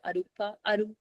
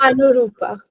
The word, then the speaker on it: Anurupa: I mean, I just want to say thanks a lot, Arupa. How do I pronounce it? Anurupa.